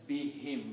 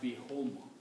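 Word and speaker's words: بِهِمْ: When we read these together, for easy pronunciation, we pronounce as be him, not be whom.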